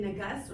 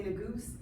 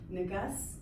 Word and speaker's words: Nagus: I think when I first said it, it's how you pronounce the back vowel, but now it's more of Nagus, so it sounds similar to the word that we're researching or that I'm researching.